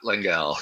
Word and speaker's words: Lengal: pronounced it perfectly well done how did I pronounce it you said LEL langel okay I just wanted to make sure all